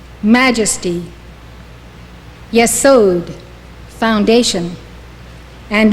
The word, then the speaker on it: Yesod: Yesod, foundation.